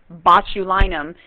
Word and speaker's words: botulinum: love that one because it sounds like my last name right but it's crossed